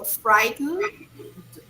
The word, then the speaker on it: frightened: okay frightened frightened frightened here you don't pronounce the final ending remember you go frightened frightened okay all right could